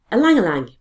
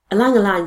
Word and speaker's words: ylang-ylang: Ylang-ylang. It is actually spelt Y and pronounced E. I don't know why that is. Ylang-ylang for the skin.